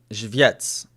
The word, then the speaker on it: Żywiec: Żywiec, right? I'm accenting the first syllable. Żywiec, right? How's that? Żywiec, not Żywiec. Żywiec, right? Żywiec, right? Not Żywiec. Żywiec. More Y sound. The other way.